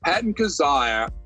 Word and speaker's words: Patton Kizzire: Patton Kizzire. Did I say his name? Yes, Patton Kizzire.